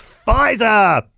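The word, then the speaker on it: Pfizer: We now have the US government's official most preferred pharmaceutical company and it's Fizer. Everybody's favorite favorite spelled with a P.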